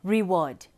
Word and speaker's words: reward: Let's look at the word reward. We've got re as unstressed and ward as stressed.